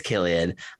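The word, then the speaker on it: Cillian: uh killian murphy i i mispronounced his name uh when i announced this it felt is it killian murphy i believe so right i always thought it was silly and murphy someone called me out after this oh so happy to be corrected i believe it's killian okay listeners let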